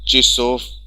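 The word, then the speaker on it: часов: And for 5 to 12 it will become chissof. Chissof. Though it is written chassof, but pronunciation is चिसोफ.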